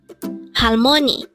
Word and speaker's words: 할머니: word number 94 halmoni again it's halmon this pronounces a three syllable word the first syllable is Hal second is Mo and third Sy is NI pronounce it with me